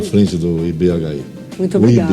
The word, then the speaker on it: IBHI: Parabéns pelo serviço lá à frente do IBHI. Muito obrigada. O IB, né? Isso. Vamos respeitar aí que o H é mudo, né? IB, pode mais fácil, chamar. É mais fácil falar IB.